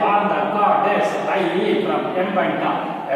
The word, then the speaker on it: Mbanta: from Mbanta. Actually pronunciation Mbanta, but for your sake I am saying Mbanta. Better indeed to remember the spelling.